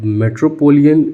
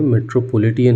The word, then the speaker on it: मेट्रोपॉलिटन: बाद आता है आपका मेट्रोपोलियन एरिया नेटवर्क, मेट्रोपोलियन नहीं पॉलिटियन, ठीक है, ये याद रखना, हमेशा लोग गलती कर देते हैं, मेट्रोपोलिटियन है, ठीक है, मैंने भी गलती कर दी प्रोनाउंसिएशन पे।